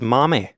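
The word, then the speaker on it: 豆: But if you see the kanji for beans on its own, then it's pronounced mame, because in Japanese, kanji can have different pronunciations depending on the context.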